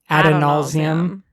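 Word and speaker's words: Adonalsium: Brennan says Adonausium. Which probably changes the pronunciation, or at least for me. I would say Ba Edo Mishram, and I would say Adonausium. That's just me.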